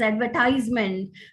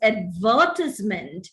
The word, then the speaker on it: advertisement: written here and they tend to pronounce this word as advertisement which is not the right pronunciation it is advertisement it's not atmosphere if